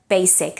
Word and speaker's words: basic: Catalan is basic but in English its basic its voiceless so basic and basically should be pronounced with an S and not basic and